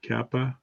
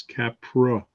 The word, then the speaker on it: Capra: the kappa kept pro not kappa its Capra if I don't pronounce